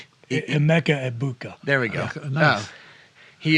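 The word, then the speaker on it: Emeka Egbuka: I won't do him the disservice of mispronouncing his name, but it's double E. Emeka Ebuka.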